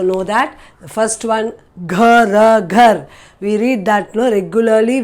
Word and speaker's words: घ: The first one is Gha. So this letter itself is Gha. Previous video when we did the letter was G, G-A, and this is G-H-A, where you give more pressure.